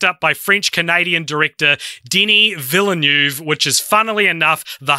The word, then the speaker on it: Villeneuve: adaptation were picked up by French-Canadian director Denis Villeneuve, which is, funnily enough, the hardest to pronounce name in this whole report, I find.